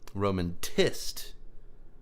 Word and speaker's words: Romantist: Romantist. Yes. Because in Russian the stress would be on the last syllable.